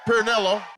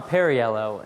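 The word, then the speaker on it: Perriello: Tom Pillo Pio. Tom Pillo. Uh, Pernelloo. I'm Tom Perryello and I approve this message because how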